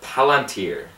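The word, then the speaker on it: palantír: yeah and Pippin finds the palantir is how you pronounce it I believe and that's kind of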